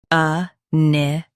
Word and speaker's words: inimical: A-ne-ma-cal. Both US and UK have the same pronunciation of this word. Stress ne. Keep ma soft and end with cal clearly. A-ne-ma-cal.